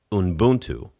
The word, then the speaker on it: Ubuntu: Like when you talk about Ubuntu, right?